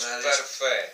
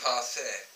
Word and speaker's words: Parfait: We already tried this, and we don't know how to pronounce it between the two. So, it should be Kriek Marriage Parfait. Parfait.